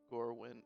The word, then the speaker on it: Gorwyn: at um or mirror is that how you pronounce it um or is it did i say it right gourmet or gorwin gorwin okay g-o-r-w-y-n gorwin i will just have